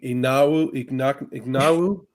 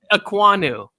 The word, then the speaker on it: Ekwonu: Ignawu. You just messed up my brain. I was like, wait, is this dude trying to say Ewok? It's Ekwonu is his last name.